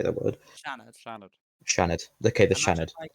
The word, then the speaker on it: Seanad: Shannid. Shannid. Shannid. Okay. The Shannid. You know the name Sha. Yeah. Shaad. Shannon. Shanned is perfect. That pronunciation there is perfect.